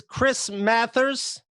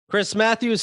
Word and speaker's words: Chris Matthews: are ugly yes uh this is chris mathers matthews i never said his name right i think i'd do